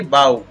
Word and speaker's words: बाऊ: जैसे यहाँ पर इसको पढ़ेंगे, बी के साथ में ओ यू दे रखा है तो यहाँ पर जी एच का उच्चारण नहीं होता है, तो इसको पढ़ेंगे बाऊ।